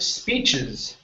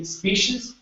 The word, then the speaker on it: speeches: go to the word speeches okay so here this is a CH sound so instead of saying Spees it's speeches speeches speeches good one more time